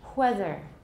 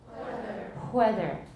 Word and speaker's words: whether: This one is not hard because most of you learn voiceless W's in school as the normal pronunciation. I was familiar with it but didn't use it myself. So, let's contrast, everybody. Whether. Whether. One thing Taiwanese sometimes do wrong is they make it a velar fricative.